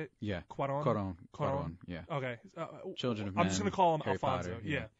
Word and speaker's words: Cuarón: Cuarón.